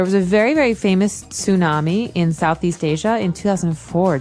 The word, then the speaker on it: tsunami: they may have a tsunami. Well, this doesn't sound very English, does it? I know, tsunami. And actually, if you see the spelling, it's with a T, TS.